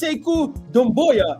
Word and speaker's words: Sekou Doumbouya: And I want to know how did you even pronounce that third name? Say it again. That's Sekou Doumbouya.